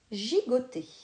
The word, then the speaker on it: gigoter: mot c'est le mot gigoter dans le moule gigoter il y à deux fois la lettre g dans la première syllabe j le g chante dans la deuxième syllabe go le g chanteguet si